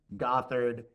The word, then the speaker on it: Gothard: So, Ben Gothard, now I know I've been pronouncing it correctly.